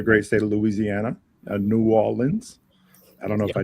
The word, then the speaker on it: New Orleans: He's from the the great state of Louisiana, uh New Orleans. I don't know if I did that justice or not. You said it right. New Orleans.